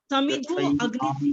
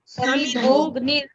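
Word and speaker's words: समिधोऽग्निर्: आपने Usha madam, Sharma madam, समिधो अग्नि बोलना। अगर हम समिधो बोले फिर तो समिधा अग्नि, लेकिन सेंटेंस को पढ़ते हुए समिधोग्निर ग की आवाज आनी चाहिए, ऐसा साइलेंट है।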